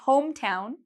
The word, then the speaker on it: hometown: You'll notice that for hometown and homesick, home is the loud part, okay? I say home louder than town and home louder than sick.